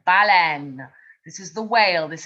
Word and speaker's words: baleine: And that's spelled B-A-L-A-I-N-E. But in English, you hear bull, N, baleine.